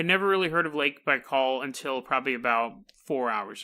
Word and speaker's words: Baikal: is and get prepared for a ton of mispronunciations because we're going to Russia this is Lake Baikal Bai kaal Lake Baikal is on the conspiracy list it's